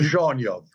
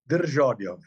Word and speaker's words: Dzierżoniów: Dzierżoniów. Say it again. Dzierżoniów. It's, and do you see the little dot, Julie, above the Z?